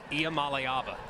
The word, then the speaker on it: Iamaleava: And can you pronounce Nico's name for me again? Nico Iamaleava.